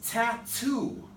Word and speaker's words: tattoo: If I stress the T in this syllable, that becomes a T2. It's tattoo. Tattoo. Perfect, we're moving along here.